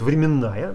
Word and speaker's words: временная: принципа локально локальность бывает временная тут ударение на букву н тут плохо видно но